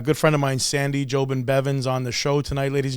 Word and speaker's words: Jobin-Bevans: to bring a good friend of mine sandy jobin bevins on the show tonight ladies and gentlemen put